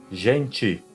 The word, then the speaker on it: gente: Então a letra T, quando ela se encontrar com a vogal E ou ES, ela será pronunciada como ti ou tis, mas somente ao final das palavras, ok?